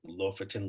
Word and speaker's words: Lofoten: I don't even know how to really pronounce it. It's like Lofoten Links.